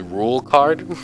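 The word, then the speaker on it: Rouxls Kaard: did double check so his name is actually pronounced rule card like you know like the rule card in the deck yeah that's his that's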